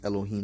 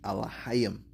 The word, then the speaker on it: Elohim: They pronounce Elohim. That's not the correct pronunciation. The ancient Hebrew would be Elohim.